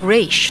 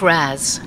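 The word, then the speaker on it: Ra's: Raish, not Raz. A common mistake.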